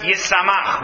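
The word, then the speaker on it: ישמח: So you could also read it as Yishmach, because of course the shin and the sin are the same letter. There are no dots in original biblical text. So it's written Yishmach and pronounced Yisamach.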